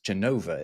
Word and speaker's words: Genova: It's weird that we call it Genoa, even though in Italian it's Genova, isn't it?